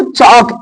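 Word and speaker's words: chalk: काप means बछड़ा हाफ हाफ means आधा इसको चौक इंग्लिश में चौक बोलते हैं हिंदी में चाक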